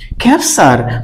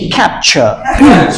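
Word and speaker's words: capture: সুন্দর বলটা দিবা না এখন থেকে কিন্তু আর ক্যাপসার বলা যাবে না কি বলতে হবে আমরা একটু দেখে নিচ্ছি আমরা সাথে সাথে বল এটাকে আমরা কি বলবো আগে স্পেলিং করা শিখি বল সি সি এই কে ক্যাপ ক্যাপ ক্যাপ এ ইউ অ ই ক্যাপচার এবার আমরা সাউন্ডটা দেখি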